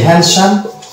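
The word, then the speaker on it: handsome: তৃতীয় শব্দটা হচ্ছে হ্যান্ডসাম, এখানে ডি সাইলেন্ট থাকবে।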